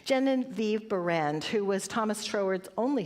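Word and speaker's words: Genevieve Behrend: But I was thinking about Janine uh Genevieve, let me say it right. Jennine Viv Band who was Thomas Trowward's only student and she wrote this wonderful book your invisible power.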